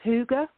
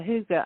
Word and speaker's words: hygge: And she'd fallen in love with the concept of hygge, which is spelled hygge, Hygge.